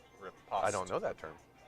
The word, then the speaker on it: riposte: And for the two of you following along at home, my riposto, is that how you say? Riposto? How do you say it? Riposta? It's a fencing term. Riposte.